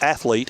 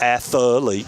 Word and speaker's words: athlete: Now, any sportscasters out there that's on television and radio, please understand that athlete has 2 syllables. It's not athlete, it's athlete.